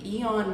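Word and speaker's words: AEON: I go to a place called Lucky Supermarket at the Eon Mall, but they spell it A E O M.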